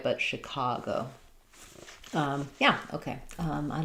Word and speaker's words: Chicago: Um the letter ch say the I sound. So you can think about it like she cargo. Um, Chicago. Yeah, it's middle syllable stress.